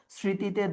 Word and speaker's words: স্মৃতি: মফলা উচ্চারণ না হলে আমরা চন্দ্রবিন্দু নিব। স্মৃতিতে দন্ত স উচ্চারণ হচ্ছে এই যে স্মৃতি।